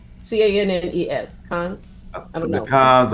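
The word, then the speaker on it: Cannes: Yeah, I knew it was Can. Okay. Thank you. No, and it's pronounced Cons, right?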